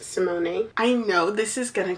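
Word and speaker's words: Symoné: I think that's how she said her Her name is pronounced Simone.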